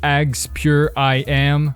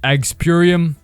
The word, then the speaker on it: AgsPureIM: I've always pronounced this like AgsPureIM. I do not like green eggs and ham, Sam I am. Type shit. Some people pronounce it Agspurium.